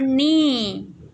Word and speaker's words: knee: K is for knee. K is also silent.